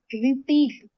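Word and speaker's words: receipt: दूसरा एग्जांपल है रिपीटी। रिपीट। इसमें साइलेंट क्या होता है? पी साइलेंट होता है।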